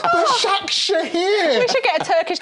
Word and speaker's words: Başakşehir: Well, there's no chance it's going to be Başakşehir here. You've still got it wrong. Başakşehir.